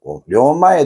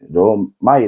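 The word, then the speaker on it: 両前: 우리 는 "katamae" 를 " katamai" 로 , "ryomae" 를 "ryomai" 로 잘못 발음 했는데 , "katamae" 는 단추가 한 줄로 배열 된 앞면 을 가리킵니다 .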